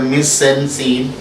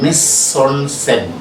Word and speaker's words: mise en scène: The pronunciation is not mise en scene. Miss, M-I-S-E, miss, hyphen, E-N. It is pronounced as on. And S-C-N, scene is pronounced in French language as scène, mise en scène.